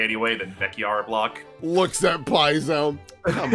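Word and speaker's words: Bekyar: I've been saying it wrong this whole time. Oops, it's actually... Baker? Oh, no, they said it wrong. Ooh. It's the Beckyar block, but they...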